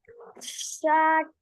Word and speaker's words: षट: एकदम, दो व, द्वे, त्रि, त्रीणि, त्रीणि, चत्वारि, चत्वारि, पंच, पंच, पंच, षट, षट, हाँ ट पूरा नहीं है, षट, षट, सप्त, सत्र,